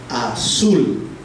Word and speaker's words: azul: La A es la que suena con menor intensidad, azul, y sul suena más fuerte.